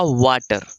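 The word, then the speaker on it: Walter: और यहां पे देखिए इसको एल साइलेंट कीजिए यह क्या हो जाएगा वाटर क्या हो जाएगा वाटर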